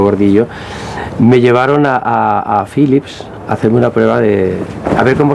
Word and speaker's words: Phillips: pero vamos a ver por qué se llama se dice phillips si se escribe phillips y entonces es cuando me explicaron que el ph era efe como es natural y que en todos los idiomas del mundo se podía leer con ph entonces éste toca adelantado